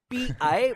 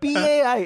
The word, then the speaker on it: Pai: Like not PI but PAI. It's like Ajit Pai from like pie.